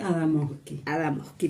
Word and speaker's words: Adamovsky: Y lo tenemos con Carolina, lo quiero decir bien, Adamovsky. O sea, suavecito lo decimos. Se puede no pronunciar la B, Adamovsky, perfecto.